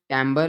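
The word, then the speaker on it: timbre: traces on an oscilloscope तो यह लफज़ है टेंबर इसको प्रोनाउंस टेंबर किया जाता है और ये इसका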